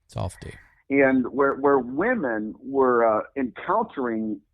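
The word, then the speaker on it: Safed: Now, there was a province in Israel called Safdi. It's spelled like a safe, S-A-F-E-D. It's pronounced Safdi. Safdi.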